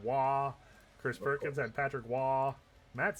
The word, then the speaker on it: Roy: Oh gosh, but no, it's spelled R O Y Roy, but it's actually Patrick Wah.